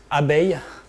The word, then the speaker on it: abeille: Abeille. How? What are these chemistry? Abeille. Abeille? Abeille. How do you spell it?